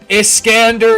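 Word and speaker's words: Iskandar: Alexander's how you say it in Greek. Iskander is how you say it in Persian.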